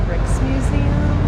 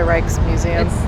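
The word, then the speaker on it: Rijksmuseum: the picture behind me I think it's pronounced the bricks museum it's the reichs museum the book says this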